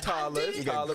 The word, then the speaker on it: Tala: And we have Groovy and Tala. Did I say it right? Tala, but that was good.